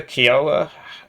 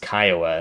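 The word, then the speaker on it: Kiowa: Got the Kioa uh with the um somebody sent me a message saying that you're disrespecting Native Americans when you call it the Kioa because it's pronounced Kyoa and that's offensive to their culture.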